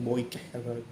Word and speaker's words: bokeh: Kalau teman-teman tuh ada yang suka rajin bikin bokeh kayak begitu ya, bikin bokeh itu gambar belakangnya buram, bacanya boikeh.